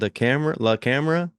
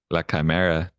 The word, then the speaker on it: La Chimera: movie called La Camera? La Chimera. How you spell that?